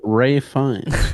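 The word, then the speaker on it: Fiennes: movie uh oh gosh you pronounce it ray fine yeah really really like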